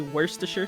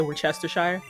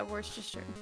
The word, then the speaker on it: Worcester: say like the sauce it's supposed to be Worster sauce but people say we're Chester Shire yeah Worster Worster sauce that's stuff is spicy yeah like how